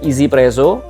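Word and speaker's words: 1Zpresso: Kalau yang ini kontendernya adalah grinder dari One Z Presso yang bacanya adalah Easy Presso.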